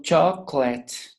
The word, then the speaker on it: chocolate: This O is silence, in silence. Chocolate, chocolate. It's not chocolate or chocolate, it's chocolate.